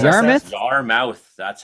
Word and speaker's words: Yarmouth: I know it's in Nova Scotia, but it's Yarmouth. Is that right? Is that how you pronounce Yarmouth? that? Yarmouth. That's how you say it. Yeah. Yarmouth.